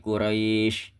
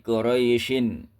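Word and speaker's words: قريش: Maka cara membacanya seperti ini. Liilafi quraisy. Bukan liilafi quraisyin.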